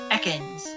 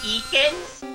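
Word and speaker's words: Ekans: backwards it cons yeah Atkins weirdly enough Mickey Mouse the Pokemon Stadium announcer pronounces it as eakins or whatever reason while the enemy goes with Atkins go squirrel get the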